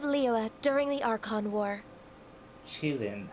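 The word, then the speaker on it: Qilin: Chilin, huh? I never would have guessed it's pronounced that way.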